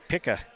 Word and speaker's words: Picca: At the line for the Indies, Nate Picca. I was told that's how his name is pronounced.